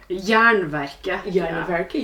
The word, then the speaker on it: Jernverket: But you have a podcast that's quite famous in the Norwegian scene called like Jernverket, if I pronounce correctly. Jernverket, yeah.